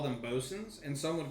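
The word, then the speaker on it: boatswain: a shorten version yeah and so they say bosen I'm a BOS when I was researching some navies would call them bosen and some would call them boat swains and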